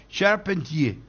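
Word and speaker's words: Charpentier: de la tarde Paul serpentier entonces tiene que decir eh pronunciación fonética francesa es sharpentí y el último Eduardo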